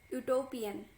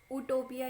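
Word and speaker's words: utopia: सो ये एक वर्ड है, तो इसको हम प्रोनाउंस कैसे करते हैं? यूटोपिया, यूटोपिया। इसको उटोपिया यूज नहीं करते, यूटोपिया करते हैं।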